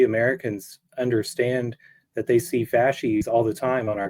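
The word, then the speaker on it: fasces: of history um you invoke fascis the the fascis the the bound bundle of sticks I I don't know if I'm pronouncing it correctly yeah that's right yeah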